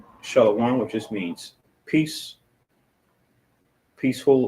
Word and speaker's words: Shalom: So you say Sabbath, and we have a Shah, a La, a Wa, and a Ma, which is Shalom, which just means peace, peaceful or whole.